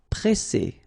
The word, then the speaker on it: presser: So double S, so the sound is really strong. S. And then because you've got this double S, then it will open the sound of your E and you will get E. Presser, presser.